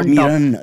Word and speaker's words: Meeran: Let me explain, Meeran with an N. Yes. But wo toh hai, pronunciation Meeran, jaisa Meerabai, right? No, Meeran with a bindi. So Meeran, there's a little na there. Yeah. So let's learn how to say it correctly because she's commissioner. So we can't take a chance. So it's actually Meeran.